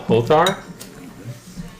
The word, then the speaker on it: Hotdar: with a group called Hotar. It's Hotar Inc. Incorporated. It is spelt HOTDAR.